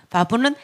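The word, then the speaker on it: וו: 그 다음에 바브는 못에서 왔다고 했죠. 그래서 연결하다의 뜻인데 6번입니다. 6번. 그래서 이거는 바브 해서 비읍 발음이 납니다.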